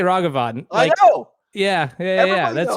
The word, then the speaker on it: Ragavan: paper towel Rags so the word rag you are able to pronounce that word now you imagine these rags and then just extend the word out ragavan there's no wrong of